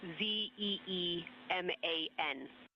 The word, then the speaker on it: Zeeman: I may be pronouncing that wrong. What's the first letter of that word? Zulu. It's Zeeman.